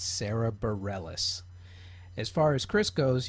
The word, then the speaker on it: Bareilles: Okay, for the record, Sarah's last name is pronounced Bareilles. It's Sarah Bareilles.